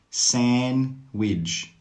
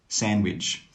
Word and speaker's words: sandwich: Wednesday, Wednesday. Handsome, handsome. Sandwich, sandwich. All of these words have a silent D. That means you don't need to pronounce the D sound.